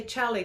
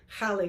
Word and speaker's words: Xali: Well, to be honest, there's several ways of saying it. Mexicans usually say chali gold. Charlie. So that's our more common way of pronouncing it. But a lot of other Spanish speakers would say jali gold, as you said. Yeah, because X sounds as a J, Holly.